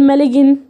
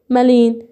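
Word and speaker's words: malign: هنا اقول ايه؟ مالين ولا اقول مالجن؟ لا مالين كده. ليه بقى؟ الجي قبلها اي بعدهم ان.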